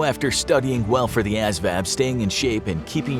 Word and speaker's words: ASVAB: Another initial hurdle is doing well on the ASVAB (pronounced as-vab) exam.